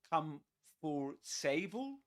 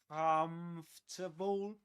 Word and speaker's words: comfortable: Um, would you say come for sable? Comfortable.